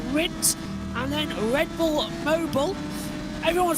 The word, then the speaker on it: Mobil: The last corner here is pronounced Mobile.